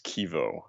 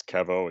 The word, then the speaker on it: Kevo: Also, I always pronounce Kevo's name as Kevo. Oh, okay. I really don't care how you pronounce it. People can say however they want, but the way I pronounce it, it's Kevo. It's short for my name, I guess, because my first name is Kevin.